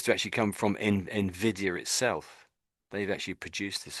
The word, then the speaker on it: Nvidia: sort of say is Nvidia or Nvidia something is what I've heard a couple of ways of saying it, but I think I'll try to say Nvidia if I can.